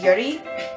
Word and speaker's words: Yuri: Natsuki, Sayori, but Yuri, I just say Yuri because it's easier than saying Yuri. Because you'd really pronounce it Yuri, but I don't really, I guess.